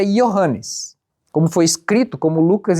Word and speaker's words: Johannes: Eu sei pronunciar em grego. Em grego é Johannes, como foi escrito, como Lucas escreveu, é Johannes.